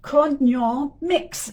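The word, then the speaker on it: Cognomix: It's called co mix. So, it's like the word co, but instead of co at the end, it's like a mix, like mixing co mix.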